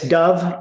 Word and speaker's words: Dov: It's Dove. It's spelled D-O-V, just like the bird, but without the E.